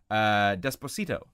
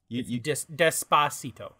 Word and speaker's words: Despacito: Also, the fact that you're pronouncing that middle syllable incorrectly, which, to be fair, it's not English. So go ahead. Despacito. Despacito? Yeah. Well, I mean, don't put the accent on it.